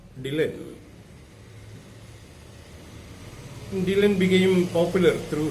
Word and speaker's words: Dylan: was not happy because the word was pronounced like Dullan, and the people might regard him as a dull person. And Dylan wanted his name to be pronounced as Dylan.